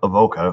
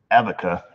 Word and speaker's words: Avoca: Boca New York just FYI I am from Avoca or if you're telemarketer it is pronounced abaca let's see here and this is from Ozzie Bob and he writes hey there Eric Oh mrs.